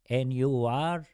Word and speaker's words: Nure: So N U R E is my last name is N.